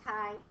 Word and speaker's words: chi: write Kai like this we pronounce the chi Kai so we have a